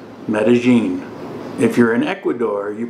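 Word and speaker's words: Medellín: if you're in Colombia you pronounce the Double L like a soft J metagene if you're in Ecuador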